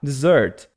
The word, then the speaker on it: dessert: E lê com som de Zzinho mesmo, tá? Dessert.